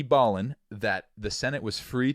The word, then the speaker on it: Ballin: pronounce it all right it's probably like Ballin or like no United States V Ballin it is definitely b-a-l-l-i-n so we we Ballin